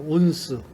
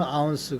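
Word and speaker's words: ounce: 온스. 1파운드는 16온스다. 발음은 아운스 그래요.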